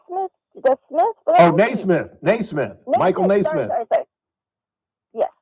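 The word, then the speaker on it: Nesmith: How did Mike, the Smith, come by his fortune? How did Mike who? It's, how do you pronounce it? D. Smith? The Smith? Oh, Naismith.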